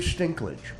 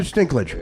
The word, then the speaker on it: Dinklage: yeah because you're short Peter stink llege listen I got the guys name wrong list Peter Dinklage's it's not English no your name is Peter stickler my name is Mario boss no no no Peter Dinklage gonna be a riches [